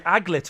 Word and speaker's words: aglet: Yeah, they're called I think it's pronounced aglet. Oh, ladies and gentlemen, you are. Yes, Liz. It is the aglet.